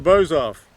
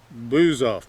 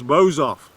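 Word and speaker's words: Bouzov: to the Teutonic Knights so bows off and we took a straitens here and a couple of them liked to pronounce it as blues off but the booze is never off in the Czech Republic so it's bows off and it's got quite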